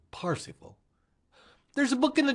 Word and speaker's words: Parsifal: King Arthur, Sir Parsifal, they're variant ways to say it, spell it. Most people say it Percival. I prefer the German pronunciation, Sir Parsifal.